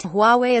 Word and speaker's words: Huawei: Huawei pronounced Huawei is already well known at home.